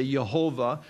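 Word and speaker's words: Yahweh: going to yhw H the name of God that's not pronounceable or we say you hova may be more correctly y ave so he he says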